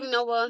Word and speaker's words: Noah: No-ah. Two syllables. Like No. Like No.